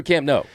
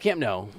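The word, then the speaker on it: Camp Nou: So I call it Camp No. But it goes either way. And I need to I need to lock in on one is a Spanish pronunciation, one is the Catalin pronunciation.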